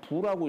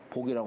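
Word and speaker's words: 復: 환하게 다시 여기 회복할 복자가 다시 할 때는 부라고 읽어요. 복이라고 하지 않고 다시 세상에 밝혀졌으니 수위 모지 불민으로 비록 여기 저 허자는 주자의 휘자지요.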